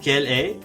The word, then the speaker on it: quelle est: Pronounce quelle est like one word.